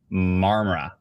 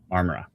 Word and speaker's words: Marmora: say it quickly um uh Scott says don't pronounce the O in momora it's marmara marmara anyways long story short I hope everybody in